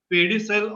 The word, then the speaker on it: pedicle: This one, which is a stalk-like structure, which we usually call as pedicel of the or pedicle of that particular vertebra. In fact, pedicle is the right pronunciation.